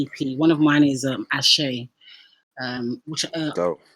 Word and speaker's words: Ashe: Because I've been in some interviews and they've been like, oh yeah, I like that record, Ace. And I'm like, wow. Yeah, I'm like, nah, that's Ashe, brother.